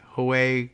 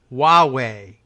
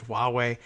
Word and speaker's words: Huawei: The Chinese mobile company name, Huawei, like Huawei, we're going to win. No, it's pronounced Huawei would be a better pronunciation. It is suggested here. It's not suggested. It's dictated to us in no uncertain terms. Huawei.